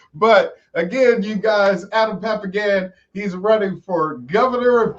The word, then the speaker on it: Papagan: Yeah, that's how you say it, Papagan.